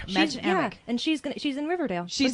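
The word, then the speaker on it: Mädchen Amick: Madchen Amick. Madchen Amick, and she's in Riverdale.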